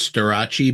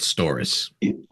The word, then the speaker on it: Storace: So the proper pronunciation of the band and your last name is Storace, because I said Storace. That's okay. Storace. A lot of English people say Storace, and French people say Storace with the r.